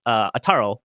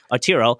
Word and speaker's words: Arturo: It's Ataro, or oh my god, I'm saying his name wrong. Arturo.